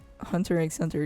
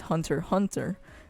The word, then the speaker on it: Hunter x Hunter: like you know a commercial guy says like pronounce the title of the anime and when he said that hunter egg center is hunter hunter i'm just like what what what what are